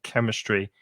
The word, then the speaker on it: chemistry: in spain as well be careful of the pronunciation of chemistry that ch in chemistry is a hard k sound chemistry and physics is is